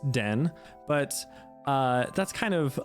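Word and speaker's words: 電: this kanji is to represent electricity it is pronounced Den but uh that's kind of a side part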